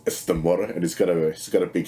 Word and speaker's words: Namor: of Namor, the Submariner, or Namor, as you keep telling me it's pronounced in the movie. Sure, it's Namor, and he's got a big schlong which they had to CGI down apparently.